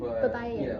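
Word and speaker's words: Baybayin: Babayan? Babayan.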